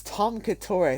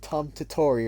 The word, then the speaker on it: Tom Katori: It's Tom Katori. I keep saying Tom Tatori or something.